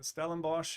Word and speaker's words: Stellenbosch: Yeah, so it's Stellenbosch.